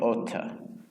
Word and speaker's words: ought to: It's the same, like native speaker often pronounce ought to or like oughta. Oughta, that's about pronunciation.